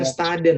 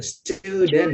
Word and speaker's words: student: Bukan studen student ya. Pakai U. Pakai U. Student. Student.